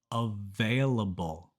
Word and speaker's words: available: 21 words is hard for Spanish speakers because of the V and B sounds available available in Spanish both B and V are pronounced the same but in English the letter V always makes that V sound and for B the lips always touch and make a small pop B so it's available available this video was